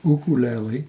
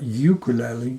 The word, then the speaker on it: ukulele: believe it or not is a ukul pronounced ukulele ukulele not ukulele do you want to sound like a local no it's actually from